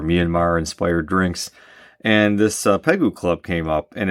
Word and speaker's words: Pegu: How is this one pronounced? Pegu? It looks like ragu. Let's go Pegu.